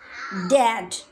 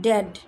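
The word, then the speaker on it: dad: ক্যাট ম্যাট র‍্যাট ফ্যাট ড্যাড নট ডেড ডেড বললে তো মারা যাবে এখানে বলতে হবে ড্যাড তারপর এখানে আমি আবার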